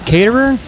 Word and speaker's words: Caterer: We are here with Josh Caterer. Is that how you Yes, pronounce it?